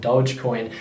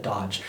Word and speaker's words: Dogecoin: seeing all the hype behind dogecoin i think i pronounced that correctly i got called out for not i think i called it dodge but it's supposed to